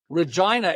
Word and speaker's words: Regina: Regina, it rhymes with fun.